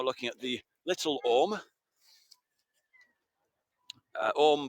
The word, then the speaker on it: Orme: Orme, by the way, is spelt O-R-M-E, and it derives from an Old Norse word for serpent, or serpent's head.